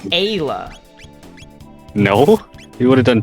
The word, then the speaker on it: Ayla: Is it Isla or Ayla? This was a debate yesterday. Spin kick? Does spin kick do more damage? Isla.